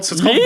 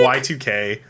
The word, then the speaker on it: YIIK: Yeah, so it's called Yeek? Y2K. I reviewed that's how you it.